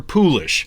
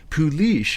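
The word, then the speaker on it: poolish: Only at this point can you make your poulish, or pouliche as it's pronounced in some circles, which involves mixing 2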